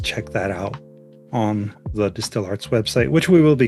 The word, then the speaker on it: DSTL Arts: Distill Arts, as it's actually pronounced, is a nonprofit arts mentorship organization that inspires, teaches, and hires emerging artists from underserved communities.